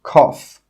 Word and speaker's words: cough: GH is also sometimes pronounced as an F sound. For example, cough.